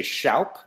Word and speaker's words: Shoup: My father would make me say Shoup because that is the pronunciation, but it's misspelled, so you're cool.